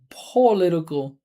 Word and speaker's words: political: So, right, for American speaker, that first syllable's unstressed, right? But you hear how she's saying pol, that's giving a lot of attention. So we would just say p, with a schwa, political, like that.